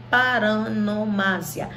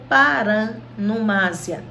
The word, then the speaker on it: paronomásia: Nós vamos ver 4 figuras hoje: aliteração, assonância, onomatopeia e paronomásia. Paronomásia ou paranomásia, tá? As duas pronúncias são corretas.